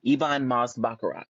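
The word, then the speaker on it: Ebon Moss-Bachrach: list is and I think his name is pronounced ibon ibon Moss bakarak bakarak either way um he plays cousin yes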